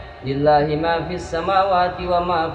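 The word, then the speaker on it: لله: Dilanjut dengan ayat yang di akhir Al-Baqarah itu billahi ma fis samawati wa ma fil ardi. Harusnya wa in tubdu ma fi anfusikum. Ini dibacanya lillahi ma fis samawati wa ma fil ardi man dzalladzi yashfa'u.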